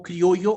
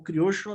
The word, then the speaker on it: criollo: Futebol criollo ou futebol criocho, dependendo da pronúncia do lugar que você estiver.